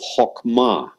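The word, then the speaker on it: חכמה: Hokmah, that means wisdom. Notice the hok, oh. It's a kamatz hatuf. The accent syllable is the last syllable, ma.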